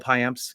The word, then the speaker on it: Payamps: You got the S at the end of his name. Do I not? Oh, I don't often pronounce that, do I? It's Payamps. I usually say Payamp.